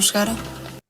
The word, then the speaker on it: chegaram: And that's why the nasal sound here, the M will make the A nasal, it's not chegarão, otherwise it's future tense.